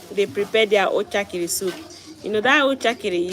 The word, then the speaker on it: Uchakiri: You may not pronounce it the way she pronounced it, but you can try. Uchakiri.